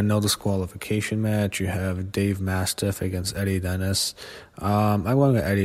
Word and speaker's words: Dave Mastiff: They had TLC matches on the independents, but I think he beats Dave Mastiff, that's how you pronounce his name.